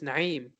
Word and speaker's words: Naim: pride is you know pronouncing your name the way it should be as opposed to conforming to how other people pronounce it like I get it